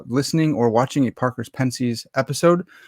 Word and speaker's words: Pensées: If this is your first time listening or watching a Parker's Pensées episode, yes, I know it's Pensées, but I'm an American swine, and I pronounce it like an American swine.